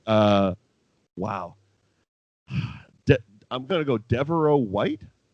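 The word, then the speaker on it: De'voreaux: die hard okay uh wow i'm gonna go deveraux white right his his first name is spelled d e apostrophe v o r e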